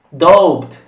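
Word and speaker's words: doubt: con l'abi mezzo giuseppe dott qui la b in mezzo non si pronuncia e quindi dow jones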